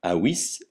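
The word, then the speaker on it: avis: V se prononce ou, comme dans ouistiti, jamais V comme dans vipère. Exemple, awis, l'oiseau.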